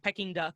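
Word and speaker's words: Peking duck: yeah it's a pecking you said it right pecking duck yeah we usually like or we used to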